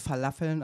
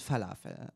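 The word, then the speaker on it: Falafel: ist du Humus und verlaffeln am Mittag sind ein Muss aber die Aussprache ist dir egal guck mal es heißt hommus und fafel und ja noch weiß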